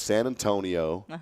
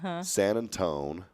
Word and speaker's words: San Antonio: So it's San Antonio, San Antone, San Antonia.